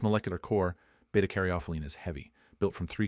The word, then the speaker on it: β-caryophyllene: Betaaroene, pronounced betaarophelene, is the quiet power